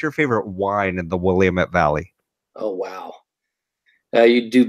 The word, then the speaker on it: Willamette: pronounced it right right my mother calls it the willow Mattie so you know here for 30 years I think she's actually got it down but yes it's the Willamette yeah I have three